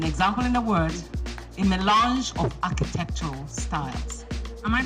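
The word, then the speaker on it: mélange: Milange.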